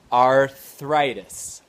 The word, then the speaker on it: arthritis: Arthritis.